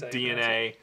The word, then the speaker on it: DeNA: right so we'll talk about uh the Nintendo DNA is that's how you pronounce it yes that is DNA uh de so DNA is a company that